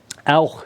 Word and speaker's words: auch: Now, CH would be pronounced in English as something like ch. You talk about Chinese food as being something you like. Well, in German, the CH sound, especially if it's occurring at the end of the word like this, is pronounced more like auch.